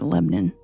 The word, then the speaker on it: Lebanon: There's a small town in Illinois where they call it Lebnon. Spelled like Lebanon, but it's Lebanon, Illinois.